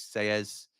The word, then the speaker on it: Sellés: Double L in Spanish is pronounced as a Y. So it's Selles up the Ramble.